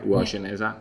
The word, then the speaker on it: Uwajeneza: Uwajeneza?